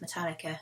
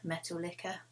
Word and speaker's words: Metallica: Bless her, she pronounced Metallica metal liquor.